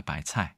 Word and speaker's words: 白菜: 아래 한글이 있기 때문에 대체인데이 발음이 차에 차이라고 합니다 바이 차이 근데 어떻게든 예전에 음이